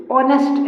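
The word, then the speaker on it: honest: इस दश ऑनेस्ट wide इसके बाद वाले शब्द का उच्चारण कीजिए ऑनेस्ट ऑनेस्ट ऑनेस्ट होता है ओ से हो रहा है ओ से इसका उच्चारण तो यहां पे लगेगा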